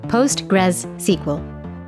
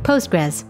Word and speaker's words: PostgreSQL: name this is pronounced postgres sql but most people simply say postgres for short because let's be honest